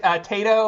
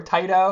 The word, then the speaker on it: Taito: Tengen, but it was like Tato or Taito or it says I say Taito. Taito. I say Yeah. Ninja Gaiden, which is Say probably what Taito, I say Taito, we say Tato.